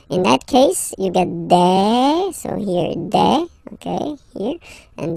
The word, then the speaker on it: des: Okay, and then the plural form, des. All right, here a s, you pronounce it like a.